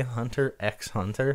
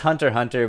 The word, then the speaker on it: Hunter x Hunter: do people really say Hunter x Hunter no it's hunter hunter but if but you know if you don't know how it's spelled it's harder to search for they just put an